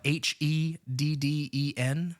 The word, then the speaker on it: Heden: Spell it. Uh, H E Den. That's Heden.